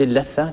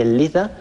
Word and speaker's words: اللثة: بعدها عندنا اللثة، طبعا لا نقول اللثة كما يقال في العاميات، إنما هي اللثة بتشديد اللام وكسرها وفتح الثاء المثلثة.